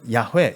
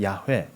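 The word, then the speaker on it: 야훼: 뭐 이렇게 돼요 그리고 히브리어 사람들이 표현하면 야회 이렇게 되죠 야회 야외라고 부릅니다 같은 단어예요 근데 그 야라고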